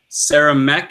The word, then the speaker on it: Saramek: We have Will, or you may know him better as Saramek. Is that how you pronounce it, Will?